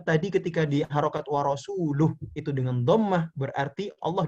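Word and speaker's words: وَرَسُولُهُ: ada orang membaca, Innallaha bari'um minal musyrikina wa rasuluh. Harusnya seperti itu. Ya. Harusnya seperti itu. Akan tetapi orang tadi membacanya apa? Innallaha bari'um minal musyrikina wa rasulih.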